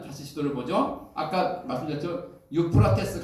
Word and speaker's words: 유프라테스: 유프라테스, 이게 유프라테스. 성경에는 유프라테스 강을 가리켜서 유브라데 강이라고 이렇게 발음을 조금 이제 옛날식으로 표현했죠.